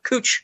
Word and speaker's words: Couch: Uh there's this there's this main strip street uh in Portland called uh Cooch Street, but it's spelled Couch.